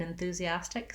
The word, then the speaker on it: enthusiastic: move to the le the first letter s in enthusiastic says the z sound enthusia um the letter i says the tense e enthusia and then we get to our stressed syllable with our ah black cat vowel as stick enthusiastic this tea we might do as more of a flap enthusiastic dick dick uh i